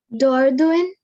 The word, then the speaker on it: Dordogne: GN is always pronounced like IN, in. Okay. So the first word, Lin. very good, Lin. Lin means line. Okay. Then the next one, Dordogne.